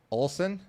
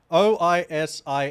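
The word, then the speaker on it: Oisín: Olsen? Okambi? It's not Olsen, it's an I. Oisin.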